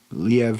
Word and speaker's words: Liev: good show I mean Liev Schreiber I think is how you say his name I said live before but it's Liev because I think it's iev that guy can [